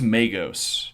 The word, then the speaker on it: Magos: Uh, in Warhammer, the pronunciation is Magos. Magos. I'll I'll take Magos.